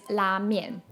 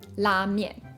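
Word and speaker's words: 拉面: But if you did in fact want to know how to say it in Chinese, it is la mian, la mian.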